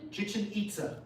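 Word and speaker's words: Chichén Itzá: How do you pronounce the ruins? Chichin Chichinita.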